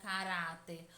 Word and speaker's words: caráter: forte da palavra caráter basta pronunciar lentamente Esta palavra com se tivesse chamando alguém PC bom que a sílaba que mais demora as é pronunciada era portanto durar é a sílaba tônica turma a sílaba tônica a é a penúltima sílaba da palavra caráter portanto a palavra caráter é uma palavra paroxítona certinho turma o hino